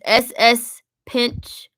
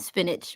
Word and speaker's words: Spinitch: His name is SS Pinch. Wait, S Spinitch. Yep. Spinach. But it's spelled like spin and itch.